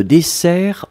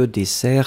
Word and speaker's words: dessert: N'oubliez pas que dessert, c'est avec deux S et donc pas d'accent. Attention, Meiso, pas d'accent sur dessert puisque vous avez déjà les deux S qui vous donnent la prononciation ouverte du E.